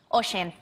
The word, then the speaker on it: Oisín: Oisín.